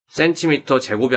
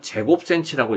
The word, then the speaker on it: cm²: cm를 두 번 곱했으면 c제곱이 아니고 이거는 제곱cm라고 읽어야 됩니다.